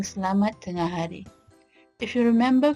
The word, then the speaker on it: Selamat: Off we go to the manner of pronouncing Selamat tengah hari. If you remember from the previous lesson or I Learn Malay Unit 1, notice that I pronounce se, not si or se or say.